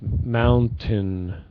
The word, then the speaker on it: mountain: Montaigne one thing yeah it's more like tin at the end instead of saying tain it's Mountain Monken right good yeah that